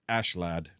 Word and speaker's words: Askeladd: But the main other character is Askeladd, or Ashlad, technically is how it's. So it's Askeladd is how it's spelled. But with the Japanese, it's Ashelad, which makes way more